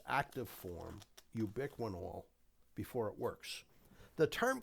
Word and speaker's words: ubiquinol: Some people pronounce it ubiquinol. I'm happy either way. Nobody's decided there's the proper way to pronounce it. But in any event, ubiquinol, which is the way I pronounce it, and if you want to say ubiquinol, fine.